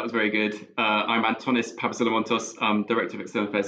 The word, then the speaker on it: Antonis Papasolomontos: thanks very much so yes no you you pronounced my name perfectly well so that was very good uh i'm antonis pavasilamontos um director of external affairs at abbvie uh